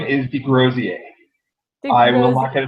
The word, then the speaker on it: Desgroseilliers: you say your name some are hard to pronounce so the last name is Degrassi aight i will unlock a defendant if anybody